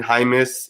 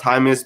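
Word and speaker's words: Jaimes: that name man brendan hymas it's spelled it's pronounced hymus but it it looks like it's saying jameis he's from nebraska he's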